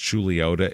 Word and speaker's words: Chuluota: of the Cities now the name pronounced julota it means allegedly Isle